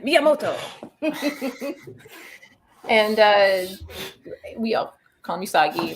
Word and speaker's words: Miyamoto: pronouncing things sometimes but is it mimoto usagi miyamoto you just say it like that you say the accent miyamoto and uh we are